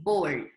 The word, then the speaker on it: bored: Y la pronunciación es bored. En una sola toma de aire, en una sola sílaba.